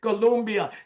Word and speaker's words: Colombia: Colombia, Chile, and Peru.